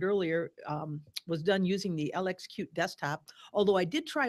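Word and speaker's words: LXQt: right and toolkit um I've heard it called cute swim here yes that's what I'm gonna say LX cute so but it's spelled out LX cutie yeah just for everybody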